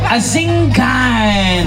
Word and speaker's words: Asingan: Is it Asingan or Asingan? Asingan.